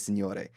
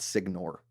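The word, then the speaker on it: Signore: junkies great dude but his last name - Senor a it's not signor okay the Italian or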